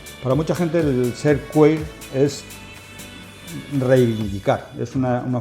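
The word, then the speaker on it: queer: amplísimo Esto es lo que los americanos llaman queir vale se escribe q u e e r eh seguimos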